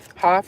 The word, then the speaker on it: Hopf: Hoff is spelled Hopf.